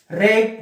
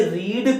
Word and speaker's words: read: third form लगता है, इसीलिए दोस्तों मैंने READ को रीड प्रोनाउंस ना करके रेड प्रोनाउंस किया, क्योंकि हैज हैव के